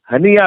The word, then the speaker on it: ہنیہ: بھی ہیں۔ اب اسماعیل ہانیہ کا رد عمل سامنے آئے گا، ہنیہ ویسے صحیح تلفظ ہے، تو پتہ چلے گا